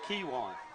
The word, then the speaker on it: Kiwan: So I got correct pronunciation, Travis. It's Kiwan. Kiwan. Kiwan.